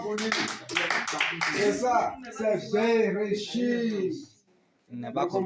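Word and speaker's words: בראשית: C'est Bereshit. Il n'est Le pas comme commencement. Bereshit.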